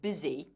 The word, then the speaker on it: busy: Did you notice how the candidate pronounced the word busy? Be careful not to say busy. That first vowel sound must be short.